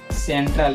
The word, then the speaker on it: central: लेकिन यहाँ C का उच्चारण क नहीं होगा, सेंट्रल यानी सेंट्रल, ठीक है।